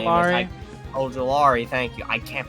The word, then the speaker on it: Ojulari: So I want to see Olojuwari or whatever the hell his name is. Ojulari, thank you. I can't pronounce it.